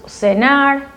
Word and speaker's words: cenar: The sit is always pronounced like an S in Latin America. So cenar, mirar, you can say mirar or ver.